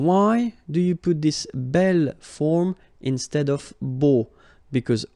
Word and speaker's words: bel: Okay, remember you pronounce it belle, so like the feminine version, but then you write it B-E-L.